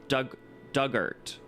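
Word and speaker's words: Dugort: Ort rhymes with hurt. Duggart.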